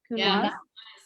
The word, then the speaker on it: Counoise: Counoise.